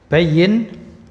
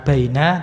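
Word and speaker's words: بيّن: Bayyin. Nah, ini bukan baina tapi bayyin. Ya, kalau bacanya baina itu dia artinya antara tapi di sini bukan di antara tapi ini filamer ini bayin.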